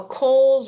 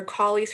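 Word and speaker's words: Colles: guys will have this to review but a kohl's or collies fracture depending on how you want to pronounce it is the most common fracture of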